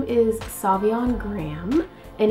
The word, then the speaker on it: Graham: My full name is Savion Graham. And it's not spelled like my YouTube channel is spelled. It is actually G-R-A-H-A-M. I always tell people like graham cracker, but without the cracker.